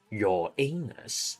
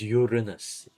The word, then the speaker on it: Uranus: So all we have is Mercury, Venus, Mars, Jupiter, Saturn, your anus, and Neptune. No, I'm just kidding. It's Uranus. Uranus.